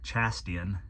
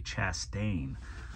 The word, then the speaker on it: Chastain: his last name wrong it's not chastian it's actually Chastain um they did write